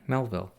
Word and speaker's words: Melville: do it melv melali which one's right Melville because it's named after the author Herman Melville not spelled the same Melvil that's the spell